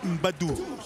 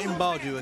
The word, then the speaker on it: Mbadu: Excalibur, if you're going to say his name, say what? It's Mbadu. Mbadu, not Mbadu, okay?